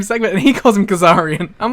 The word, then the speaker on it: Kazarian: did mispronounce uh Frankie Kazarian at once days this month he calls him Frankie kazaki because then everyone else called him Kazarian oh it's kazara in